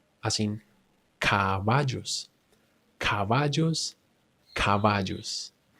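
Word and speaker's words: caballos: in C as in cavajos. Cavajos. Cavajos. Here I'm pronouncing the B the soft version.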